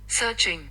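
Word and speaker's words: searching: आप लोगों को ध्यान रखना है जब आपके वर्ड में आर आता है ना तो थोड़ा सा एक्टिव रहना है। ठीक है? इसका प्रोनाउंसिएशन पहले सुन लेते हैं। सर्चिंग सर्चिंग सर्चिंग सर्चिंग। ठीक है? आर नहीं आएगा।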